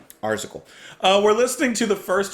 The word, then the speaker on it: Arzachel: Today we're listening to, how do you pronounce that? Arzachel. No, Arzachel.